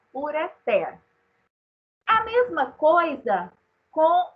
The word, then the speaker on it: ureter: Então, se nós pronunciássemos ureter, teria que ter acento, porque seria paroxítona terminada em R. A forma correta de pronunciar é ureter.